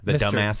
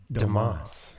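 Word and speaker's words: Domas: el además or something yeah let go my dumb ass dumb ass yeah and which is it's pronounced Dumas its but they they you know have made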